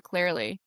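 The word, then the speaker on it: Clery: her book and now I'm like, oh, and now her journey is her autistic child, Laura Clearly. Is that how you say it? Yes. I Laura love Cleary.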